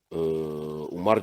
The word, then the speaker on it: عمر: Pakai wawu, kalau tanpa wawu dibacanya Umar.